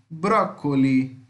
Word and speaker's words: broccoli: o brócoli broccoli broccoli lembra tem 26 então vai ficar com som de c se fosse um só aí a pronúncia seria diferente como tem 23 então ficar com esse só mesmo broccoli tá e eu falei